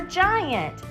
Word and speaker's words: giant: G says 2 sounds. It makes 2 sounds. It says G for Goliath, and it says J for giant.